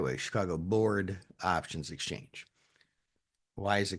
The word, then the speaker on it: Chicago Board Options Exchange: That exchange is the Chicago Board Options Exchange, which a lot of people don't pronounce correctly. They say Chicago Board of Options Exchange, which doesn't make any sense, but it sounds